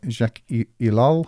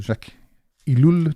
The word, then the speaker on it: Jacques Ellul: The Technological Society by Jacques Ellul, or Jacques Ellul, depending on whether you're doing French or English pronunciation.